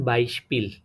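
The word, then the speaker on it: Beispiel: তো এতটুকু মনে রাখবেন যে এসপি যখন ওয়ার্ডের শুরুতে থাকবে তখন এসপিটা স এর মতন উচ্চারণ হবে। তো বলতে পারেন বাইশপিল, ঠিক আছে, এটাতে শব্দের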